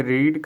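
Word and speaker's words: read: देखिए रीड का जो होता है तीनों में स्पेलिंग सेम होती है, लेकिन इसको रीड रेड रेड पढ़ते हैं, रेड पढ़ते हैं इसको, ठीक है।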